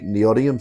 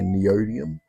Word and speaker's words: neodymium: Some people say neodymium, some people say neodymium.